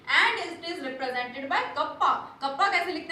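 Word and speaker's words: kappa: इसका प्रोनाउंसिएशन क्या होता है, कप्पा, ग्रीक वर्ड है ये, ठीक है।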